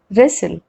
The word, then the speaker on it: wrestle: Rule number 1, W is not pronounced at the beginning of a word when it comes before the letter R. Like in these examples, rap, right, wrong, ring, wrist, wrinkle, wreck, wrestle.